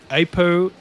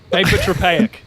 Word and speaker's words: apotropaic: So I looked into iron as and here's my pronunciation of this word. It's called apotropaic.